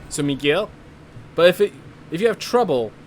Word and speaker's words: Miguel: By the way, in Spain, the U in my name is silent. So Miguel.